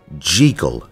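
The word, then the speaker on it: Jekyll: noticed something very strange they pronounced jeal as J and then I found out that's how the author wanted it pronounced too wild stuff there's no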